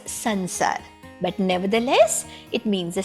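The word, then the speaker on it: संसार: pronounce this word as samsara okay i have seen many of my western friends they pronounce it as samsara ok but we indians we pronounce this as sansar but nevertheless it means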